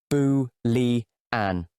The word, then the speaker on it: Boolean: These are pronounced boo-li-an.